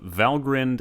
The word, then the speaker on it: Valgrind: going to learn about valgrind and he'll grinned and it would do well to pronounce them correctly the endings are pronounced grinned and not grind where do they take